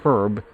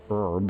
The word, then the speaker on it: herb: Uh created from paradoxicus herb or herb as the Americans like to pronounce it.